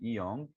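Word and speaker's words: 이응: अब ये है कि ये लगान दायरा, जिसको ई योंग बोलते हैं, इसको दायरा नहीं बोलना, इसको ई योंग बोलते हैं, ई योंग। तो इसको लगाने से इसकी साउंड पे कोई फर्क नहीं पड़ा। वाई? बिकॉज ये साइलेंट है, स्टार्ट में इसकी कोई साउंड नहीं होती।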